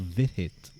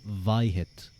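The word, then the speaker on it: Vit Hit: Called Vithit banana. If we pronounced it like you, that drink would now become Vihit.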